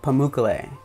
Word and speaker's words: Pamukkale: I like took a break for a second, but it's Pamukkale. Pamukkale. Pamukkale. Pamukkale. Pamukkale. Pamukkale. Not Pamukkale. I'm an idiot.